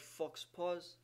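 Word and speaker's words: faux pas: reust of the marker Fox is poor the vulgar pronunciation of the French word Fox PA Fox P he made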